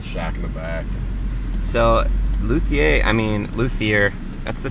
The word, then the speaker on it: luthier: like the best in the district and uh luthier luthier that's how you say it i did